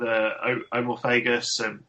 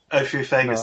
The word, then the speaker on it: Ophiophagus: Did you get to work with kings with Omorphagus or somebody please help me out there? What on your own there? Ophiophagus? Ophiophagus, that's it.